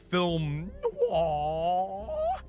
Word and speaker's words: film noir: And it's getting a little bit on the old film noir. That's how you pronounce that word, okay?